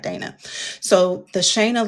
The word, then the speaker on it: Shana: Shayna. And I always have to tell people like Dana so that they pronounce it right cuz I always get Shanna, Shauna, Shanay